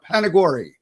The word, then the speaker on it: Panagore: I'm hoping I'm pronouncing his name correctly. Panagore or Panagore? Panagore.